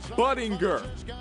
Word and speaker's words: Budinger: the night cap game Chase Budinger hard G that's some hard Bang